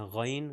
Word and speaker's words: غین: غین جو کہ تقریباً ہم تلفظ صحیح کرتے ہیں غین غا، جیسے غرارے اگر کریں تو غا کی جو آواز آتی ہے وہ ہے غین.